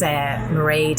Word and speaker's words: Mairead: My name is Mairead. That's Mairead. It rhymes with parade, and as most people can hear, I'm Irish.